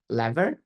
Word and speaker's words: LVR: um loss vers rebalancing lever as it's pronounced and um we um